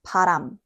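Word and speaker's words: 바람: One easy way to notice the difference is the amount of air. Try saying these words with your hand in front of your mouth. Parang. You should feel a strong puff of air on your hand. Now, say, param. There's much less air.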